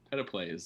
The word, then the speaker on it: PetePlays: all matched together and because p-e-t-e is nowhere near your name because there's no r it it was clearly pronounced peta and so peta plays is the name of your channel those are great questions